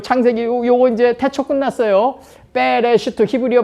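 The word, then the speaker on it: בראשית: 베레시트 히브리어 발음은 그렇고 하나님의 집에서 점이 된 분이 모든 교회와 모든 피조물과 모든 땅의 머리다.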